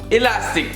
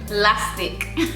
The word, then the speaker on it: elastic: For the fourth one, elastic we call Lastic. when they eat it. Where is the he? Listen, sometimes you have to make things your own. Like, where's the E?